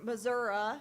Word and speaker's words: Missouri: beef cattle farm in Missouri or Missouri as I'm told it's pronounced by the locals he has served in